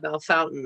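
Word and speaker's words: Bellefontaine: pronounce it that way belle fontaine in ohio is belfonte and they call it belle fountain i don't know why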